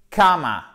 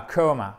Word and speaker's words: comma: Period, comma, et non pas coma.